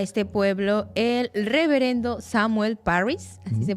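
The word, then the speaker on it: Parris: cuando llega a este pueblo el reverendo Samuel Paris así se pronuncia eh Él llega con toda su familia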